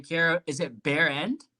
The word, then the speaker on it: Behrend: Karah, is it Behrend? It's Behrend, yeah. Behrend. Go ahead. See, I pronounced it Behrend. I mean, bear like the paint and like your ass, whatever.